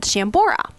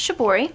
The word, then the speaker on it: shibori: well a unique process I should say called chambora so we want to share with our audience What a little bit about chambora is and how you got started in it sure well it's pronounced shibori and it's a Japanese art form Which is